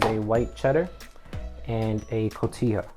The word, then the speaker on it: cotija: The ones that we're using is a white cheddar and a cotija, right? I think that's how you say it, cotija.